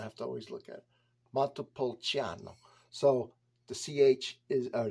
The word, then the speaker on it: Montepulciano: to always look at matapolciano so the CH is or the CI is pronounced CH and U accent or